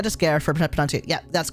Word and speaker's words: Skyr: name again it's tentas scare it's tentacles and scare scare is an Icelandic word it's also like an